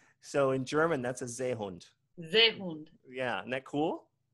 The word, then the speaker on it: Seehund: So in German, are all S's pronounced like a Z sound?